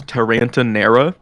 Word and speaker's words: Taranta Nera: The next one you're gonna have to roll your R's to pronounce the name. So. Number 6 is her name is Taranta Nera.